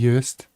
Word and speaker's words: Uist: Was my pronunciation off there, Paul? Uist, I think it was all right. Uist, it is definitely Uist.